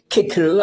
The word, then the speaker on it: Cicero: Making boys say kickaroo at school when, for the rest of their lives they'll say Cicero, if they ever, say it all at all.